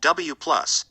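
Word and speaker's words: W⁻: These were called W+, pronounced W+, W, pronounced W-, and Z, pronounced Z0, and each had a mass of around 100 GeV.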